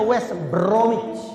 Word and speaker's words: West Bromwich: Norwich itu bacanya Norwich West Bromwich Albion bacanya West bromich orang GMT aja bukan